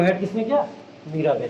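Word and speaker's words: Mirabeau: मीराबाई बोला जाता है वैसे इसको, लास्ट का वो साइलेंट कर दिया जाता है।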